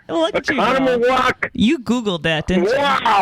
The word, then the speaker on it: Oconomowoc: like Oshkosh and Milwaukee and I'm going to pronounce it wrong. Do it, Harris. Do it. Oconomowoc. Look at you go. Oconomowoc.